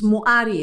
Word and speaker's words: Mwari: Mwari, and I took a sense that I'm pronouncing it wrong. My sister pronounced it. That's correct. It's okay. And it's Moari as well. It's acceptable. Moari is not a God.